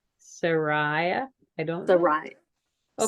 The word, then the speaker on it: Sarai: All the people Abram, that, Lot, and Sari, or however you say her name. Sariah? I don't know. Sarai. Okay, Sarai.